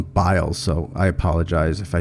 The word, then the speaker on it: Biles: producer tells me i i pronounced her last name wrong it's simone biles so i apologize if